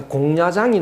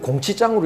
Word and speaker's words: 공야장: 그 다음에 공야장이 나오는데요. 공야장 이걸 공치장으로 읽어 가지고 공치장 팔수편 읽었다고